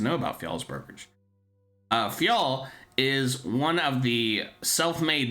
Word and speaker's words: Fjall: Fol is spelled FJL.